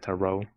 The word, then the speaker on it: tarot: And at the moon tarot card. Here comes the scene, though. It is absolutely not pronounced with the T at the end.